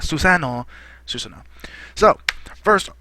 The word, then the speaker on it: Susanoo: the works for a while, and this is Susanoo, as most people, as it's supposed to be pronounced, but Naruto fans and people that know of the ability in Naruto call it Susanoo, and a lot of people they've already made